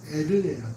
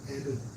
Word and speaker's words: 에르: 에리라 불렀는데 이게 여러분 엘이 아니라 정확한 발음은 에르예요. 에르.